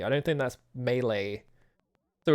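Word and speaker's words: Mêlée: Yeah, it's Malay Island, but you you pronounce it Mele, I'm pretty sure.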